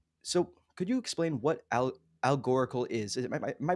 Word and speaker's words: Algoracle: But so, could you explain what Algorical is? Am I pronouncing that right? It's kind of it's not the easiest to say. Yeah, Algoracle. So it's Perfect. Algorand-based Oracle. Just cut out the middle part.